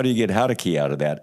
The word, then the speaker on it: Jaurequi: Now, I'm going to see if I pronounce this right. Jaurequi.